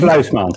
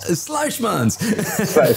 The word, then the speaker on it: Sluijsmans: You're going to help me out with the pronunciation of that last name. Sluijsmans. Sluijsmans.